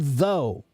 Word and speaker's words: though: There's no, the OUGH is silent, right?